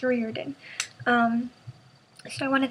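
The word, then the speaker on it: Riordan: that I thank you Rick Reen Reen ryen Reen I think I said it wrong in my last videos so I'm going to try to change it here I think it's Reen um so I want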